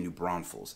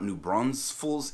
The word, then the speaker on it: New Braunfels: number 21 is that there is only one s in new braunfels now i know it's not exactly the easiest thing to pronounce especially if you're not used to saying it but you're going to get the side eye real quick from the locals around here if you start throwing another s in there you come through here talking about new bronze fools and folks around here